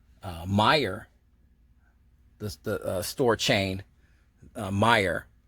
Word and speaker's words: Meijer: the store chain uh meijer if i'm pronouncing their name right i believe it's pronounced meyer it looks crazy on paper but it's it's i believe it's meyer uh they're a mid